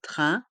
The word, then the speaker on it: train: perturbation une grève des trains des pertur ici on prononce bien le E accent grave de grève grève d train les lettres A i n font le son 1 train et le s est